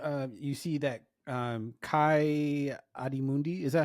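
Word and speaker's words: Ki-Adi-Mundi: Jedi when they're uh you see that um Kai adim Mundi is that how you say it yes kiot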